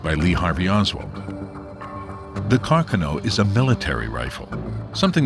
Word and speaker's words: Carcano: This is a 6.5 millimeter carcanoe. Oh, it's the proper pronunciation, although most Americans say carcanoe.